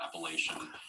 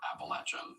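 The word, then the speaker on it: Appalachian: about the appalachi and I said it just like that appalation app fellow North Carol were not too happy about the pronunciation so after that episode aired I got a bunch of messages from fellow Statesman saying hey congrats but by the way we prefer appalachin so yeah just for the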